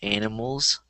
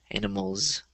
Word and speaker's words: animals: So for example, in the last sentence, there was the word animals. Make sure you get the Z at the end. Animals.